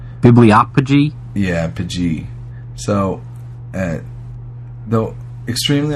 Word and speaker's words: bibliopegy: Anthropodermic bibliopegy. It's a practice of binding books in human skin. That's what it's. Human dermic skin bibliography book. Yeah. Or not bibliography, but bibliopegy. All right. Bibliopegy.